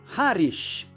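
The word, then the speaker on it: Harwich: contra a cidade britânica, cujo nome se escreve Harwit, mas por alguma razão estranha e completamente inexplicável se pronuncia Harish.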